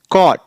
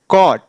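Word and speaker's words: caught: वाला नहीं अ आ देखिए जैसे सी ए यू जी एस टी य देखिए इसको कैसे प्रोनाउंस करेंगे कॉट कॉट हड हड कॉट हड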